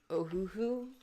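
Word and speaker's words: Ohuhu: I am using the, oh, it's spelled, it looks backwards, but it's O-H-U-H-U, Ohoo. Kind of sounds like the, Goofy laugh, and it's, yeah, you do art animating.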